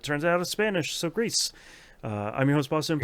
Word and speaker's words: Gris: of tvp's Game Club this month we played Greece uh which thankfully mum sent a video so I could figure out is it the Spanish or the French pronunciation of it turns out of Spanish so Greece uh I'm your host Boston this on the